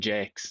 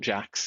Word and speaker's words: Jakes: Apparently his name is also Jake, Jason Jakes, not Jax, even though it's spelled like JS.